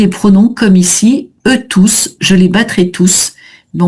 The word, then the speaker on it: tous: Quand tous est pronom, on prononce toujours le S.